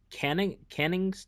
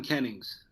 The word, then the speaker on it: Kennings: uh I believe it's called the the seven Cannon canning's Trilogy I'm not sure if I'm pronouncing it right yeah the seven Kennings yeah okay Kenny being uh an Old English